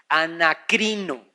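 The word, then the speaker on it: ἀνακρίνω: en el griego es una palabra que se dice anacrino, o se escribe anacrino, con K de kilo y con acento en la I, anacrino. Y esa palabra anacrino en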